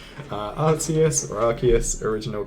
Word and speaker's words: Arceus: a different name uh Arceus or Arceus original correct oh there we go original pronunciation was RCS but they changed their tutorials reasons yeah I've always said